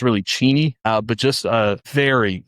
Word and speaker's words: Cheney: I thought it's pronounced Cheney Washington. It's really Cheney.